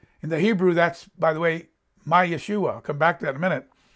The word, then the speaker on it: Yeshua: who is our salvation Yeshua that's how you pronounce it but the second syllable emphasized the second syllable Maia schewe David does